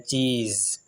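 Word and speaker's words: cheese: Okay, last पे जो pronunciation है एस का वो जेड के साथ है, चीज़।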